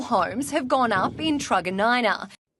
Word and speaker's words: Truganina: These prefabricated module homes have gone up in Truganina. I'm pretty sure it's pronounced Truganina.